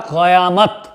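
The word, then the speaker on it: क़यामत: यहां पर कयामत साथियों यदि हम इसका शुद्ध उच्चारण करें तो यह होता है कयामत कयामत दो वहां पर यह नुक्ता रख दिया जाएगा यह हमारा उच्चारण की से शुद्ध है क्योंकि यह बाहरी भाषा का शब्द है हिंदी भाषा करें यह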